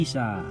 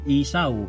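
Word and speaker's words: Esau: Ang kuya niya ay si Isa. Kung ipopronounce natin sa ating Tagalog ay Isaw, pero sa English kahit i-google po natin, Isa.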